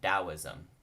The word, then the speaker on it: Taoism: is also the same the T makes more of a soft T or D sound so often say Taoism the reason for the